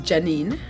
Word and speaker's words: Jah9: My name is Jah9. It is spelt Janine, and Nine is 9 in English.